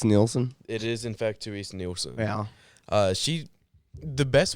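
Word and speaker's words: Terese Nielsen: uh magically Gathering artist is I want to pronounce her name correct is it theres neelson it is in fact theres neelson yeah uh she the best way I can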